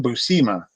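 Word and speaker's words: Buscema: Busa and and he that's how he would pronounce it was John Busa and I I never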